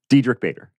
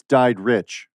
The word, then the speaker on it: Diedrich: Because like they pronounce it like Marlena, like Diedrich. With the T. Yeah. There's no T anywhere in my name. I noticed it's Diedrich.